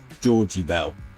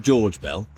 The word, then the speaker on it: Georgie Bell: This is Georgie Bell, and it's the only way you can say his name is Georgie Bell. It's not George Bell.